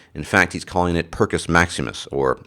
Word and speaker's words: Perkus Maximus: fact he's calling it percus Maximus or if you want to be more specific using the Latin pronunciation pedos Maximus percus maximus in his